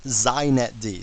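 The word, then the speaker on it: xinetd: me just say a couple things first it's pronounced zet D so if you want to be hip you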